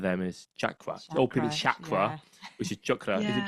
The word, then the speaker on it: chakra: pronunciation, so common Sanskrit words that are often mispronounced. So I think one of them is chakra. Old people chakra, which is chakra.